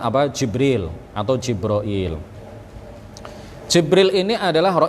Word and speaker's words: Jibril: bisa juga kita mengatakan jibroil ya bisa juga kita mengatakan jabril atau Jibril atau jibroil atau ada ada juga